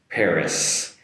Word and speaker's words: Paris: In English it's Paris Paris with an “s” sound at the end so be careful there not to finish with an “e” and like in Japanese so Paris Paris and one